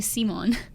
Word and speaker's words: Simon: Simon wow he oh his name is actually seimon it's supposed to be in the dub so I watch the dub today and it's it's Simone that's how they say it what the hell that's